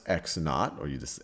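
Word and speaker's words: x₀: well, this is pronounced x naught, or you just x sub 0 is just x naught.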